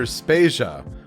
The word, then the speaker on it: Spasia: is Joe devayer and I'm spasia we're brought to you by Anonymous dinosaur and rhymes with Asia it's time to appreciate